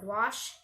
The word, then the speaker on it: gouache: I like to use it with watercolor or gouache paint.